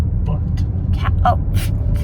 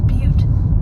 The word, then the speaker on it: Butte: Capital Butt. Okay. I think that's how you pronounce it. I thought you said it was Butte.